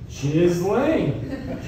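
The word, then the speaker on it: Ghislaine: Did anybody else have like a stroke trying to figure out how to say her name? And then you realize like, oh, it's just Jiz Lane.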